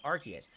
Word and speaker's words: Arceus: Arceus is the correct pronunciation, but a lot of people just don't give a shit.